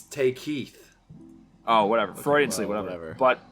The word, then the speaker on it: Takei: on the album oh it's not take key it's take Keith oh whatever Frey and